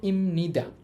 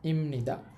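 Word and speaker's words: 입니다: একটার উচ্চারণ হচ্ছে ইমনিদা। এখানে একটা বাচিম আছে। ওই বিয়পের পর নিউন থাকার কারণে বিয়পের উচ্চারণটা এখানে ম এর মত হবে। আমি উচ্চারণটা লিখে দিচ্ছি। উচ্চারণ হবে ইমনিদা।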